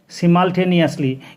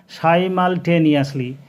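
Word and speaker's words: simultaneously: আর তাহলে অ্যাট the same time মানে একই সময়ে, যার মানে হচ্ছে সিমালটেনিয়াসলি, কিন্তু সঠিক উচ্চারণ হচ্ছে সাইমালটেনিয়াসলি। সাইমালটেনিয়াসলি হচ্ছে সঠিক উচ্চারণ।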